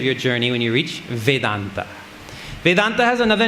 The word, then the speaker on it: Vedanta: And in Sanskrit, when you put the words together, they join. Veda Anta, Veda Anta, Veda Anta, Vedanta. The 2 A's join up and make a long A and becomes Vedanta.